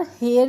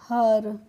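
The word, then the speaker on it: her: Making H इ आर हेयर नहीं होगा बच्चों क्या होगा एच इ आर होगा हर क्योंकि इ का प्रोनाउंसिएशन हम कभी-कभी अ की साउंड से भी करते हैं।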